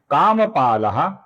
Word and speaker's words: कामी: फिर नाम है कामी, जिसका मी दीर्घ है, इसका हमें लंबाई से ही उच्चारण करना होगा।